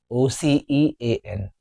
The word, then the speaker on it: ocean: O-C-E-A-N. It is ocean or ocean. Let's discuss. It is having 2 syllables. Ocean. Not ocean. It's incorrect. Ocean.